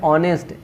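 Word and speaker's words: honest: यहाँ पे design, design, जी silent, यहाँ पे ऑनेस्ट, एच साइलेंट है, यहाँ पे नॉलेज, नॉलेज,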